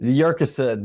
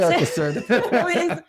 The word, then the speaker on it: Yurcisin: Yurcisin. Thank you so much. Yurcisin.